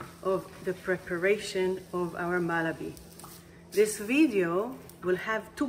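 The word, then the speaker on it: מלבי: As I'm stirring it, let's take a look again on the Hebrew word for malabi. Malabi. The letters are Mem, Lamed, Bet, Yud, Malabi.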